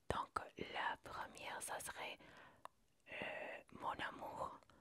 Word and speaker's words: mon amour: Donc, la première, ça serait mon amour. Pronuncia conmigo. Mon amour. Acá la N y la A se van a unir. Entonces vas a decir mon amour como si fuera una palabra sola.